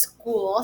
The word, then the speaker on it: school: It sounds like a K, doesn't it? But it's not. It's actually a ch sound. What? I know, it sounds silly, but school is spelled S-C-H-O-O-L. School. School. That C-H actually makes a K sound in this word.